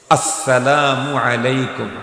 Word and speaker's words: আসসালামু আলাইকুম: সব ক্লিয়ার হয়ে যাবে সালামের সময় শুরুর হামজাকে স্পষ্ট উচ্চারণ করে সালাম দিতে হবে আসসালামু আলাইকুম বলেন আসসালামু আলাইকুম এই